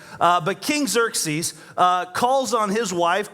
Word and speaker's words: Xerxes: the king uh King we'll call him King zer that's the easier way to pronounce his name uh but King Xerxes uh calls on his